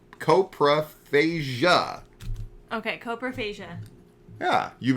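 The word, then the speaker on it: coprophagia: episode 12 uh War of the copro fasia fasia or coasia fasia fasia just fasia I wrote it out phonetically so that I didn't get it wrong and then you questioned me it's C copra phasia okay copra fasia yeah you've been singing it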